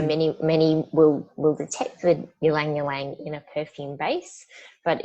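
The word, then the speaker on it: ylang-ylang: The next one is ylang ylang. Is that the correct pronunciation?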